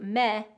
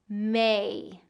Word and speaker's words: May: If we reduce it into meh, or something like that, and we don't get that full A sound in there, it's not going to sound quite right. So May.